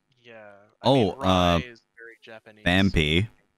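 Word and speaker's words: Phanpy: Fanpy. People pronounce it as Fanfy sometimes.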